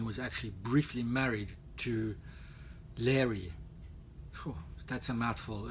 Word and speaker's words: Laoghaire: it's difficult to pronounce every time i try and say her name i just have to remember the word fairy that's the only way i can remember her name now you will know